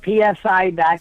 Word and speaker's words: psi: is spelled psi what's the P is silent it's like pneumonia or a pterodactyl the P is silent project psi calm and I've got